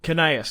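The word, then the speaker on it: Gnaeus: And his heir, soon to be, Canaeus, that's how you say it.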